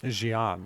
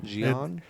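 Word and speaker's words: Xi'an: how was it pronounced Jian Jian it makes sense because the Twi'leks are very their accents and everything are very like French inspired and that's like a French pronunciation name nice they have you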